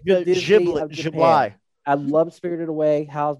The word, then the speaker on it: Ghibli: Studio Ghibli. Ghibli. Thank you. Ghibli. I like the Disney of Japan. Ghibli.